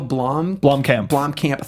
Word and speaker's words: Blomkamp: I butchered his name. Neil Blomkamp.